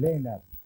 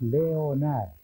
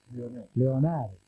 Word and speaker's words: Leonard: lo que corresponde es Leonard. Leonard. Leonard. Como Ray Sugar Leonard.